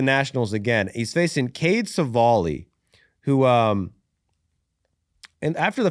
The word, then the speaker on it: Cavalli: Cavalli.